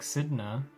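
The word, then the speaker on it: Sedna: And then the one after that might be Fear Effect, thanks to Fear Effect Sidna.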